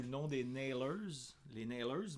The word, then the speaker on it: Nailers: Les Nailers, mais là, c'est un nom qui se prononce à l'anglaise. C'est un nom anglais dans le fond, puis on chante en français.